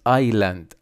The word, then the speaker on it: island: Who knows what's on this island. Island يعني جزيرة، لا ننطق حرف الاس.